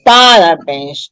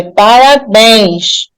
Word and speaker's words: parabéns: sílaba aí é tônica Então parabéns não é parabéns nem parabén é parabéns a última sílaba é acentuada portanto Parabéns é uma